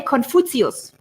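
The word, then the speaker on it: Confucius: did you say confucious then we say confus this is the German pronunciation love confus like take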